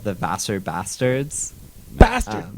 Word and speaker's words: Vassar: that band's called the vassar bastards bastard bastards like faster the college oh faster faster bastards how do you spell that v-a-s-s-a-r bastards yeah everyone says boss our boss are bastards that's our bastards we're